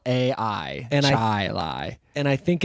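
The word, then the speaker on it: Chili: way like c h i l a i chai Li and I think it's ruined our uh our pronunciation our the way we assume things are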